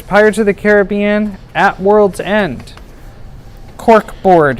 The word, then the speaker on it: Caribbean: This one is themed after Pirates of the Caribbean. I choose Caribbean as opposed to Caribbean because that's the way Walt pronounced it.